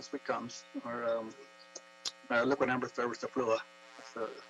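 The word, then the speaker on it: styraciflua: And these trees, these are liquid amber trees, American sweet gums, or liquid amber thurberstaflua, that's the pronunciation.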